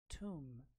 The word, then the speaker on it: tomb: Tomb, not like Tom, tomb.